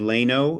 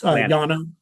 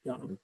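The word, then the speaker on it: Llano: And again, you said Leno. Is that am I saying it right? Uh Lano, it's Yano. Yeah. L A N O Yano.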